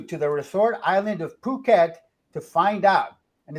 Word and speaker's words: Phuket: the resort island of Phuket to find out and it's not pronounced it p-h-u-k-e-d it's Phuket a red light district